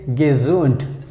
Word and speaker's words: gesund: So I have made a very simple example like wir sind gesund. Wir sind gesund. Whenever you have D, we pronounce like T.